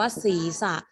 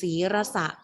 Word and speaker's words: ศีรษะ: นะ ผิด ทัน ที คำ นี้ อ่าน ว่า ศีรษะ ใคร อ่าน ศีระษะ ผิด นะ ครับ ผิด ทัน ที เพราะ ว่า